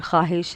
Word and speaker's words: ख्वाहिश: जिसमें जैसे for example एक वर्ड ख्वाहिश है। तो यहां पर हमारा जो वाऊ है यह साइलेंट है।